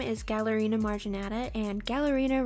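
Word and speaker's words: Galerina: Its scientific name is Gallerina marginata, and Gallerina rhymes with ballerina, and that's the first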